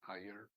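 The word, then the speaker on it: Iyer: ways it's it's understandable it's spelled as i y e r and it's pronounced as higher and just like higher like I like an i and a year it's easy but once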